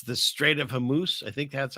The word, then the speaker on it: Hormuz: it's the Strait of Hormuz. I think that's how you say it. Hormuz like a moose. Hormat No, Strait of Hormuz, I think.